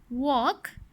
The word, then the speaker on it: walk: Talk, walk, half, calm, palm. The letter L is silent in these words.